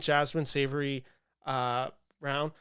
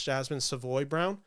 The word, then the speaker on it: Jasmine Savoy Brown: I just don't think Jasmine Savory uh round sorry I keep mispronouncing that name it's Jasmine Savoy Brown I just don't think